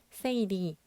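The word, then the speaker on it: 整理: 5S는 일본어로 정리, 정돈, 청소, 청결, 습관화를 발음했을 때 정리는 세이리, 정돈은 세이톤, 청소는 세이소, 청결은 세이케츠, 습관화는 시치케라고 합니다.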